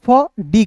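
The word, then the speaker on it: food: ऑफ एफ का दोस्तों फ डी का ड जब भी किसी वर्ड्स के बीच में डबल ओ रहेगा तो उसका उच्चारण ऊ के रूप में करेंगे फूड ई भी ई आर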